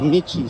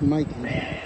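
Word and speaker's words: Michie: First I thought it was a Mickey Stadium, but it's pronounced Mikey.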